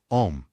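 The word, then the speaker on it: homme: piece of bark he learned from darno that it was pronounced om and in the same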